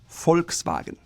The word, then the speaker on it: Volkswagen: The V sounds like an F, and the W sounds like a V. Volkswagen. However, when you shorten it, it becomes VW. It's not F anymore, it's a different sound.